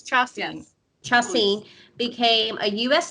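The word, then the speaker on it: Chacín: Sashin, I still can't pronounce his last name. Braves legend. Julio Chacin. It's Chacin.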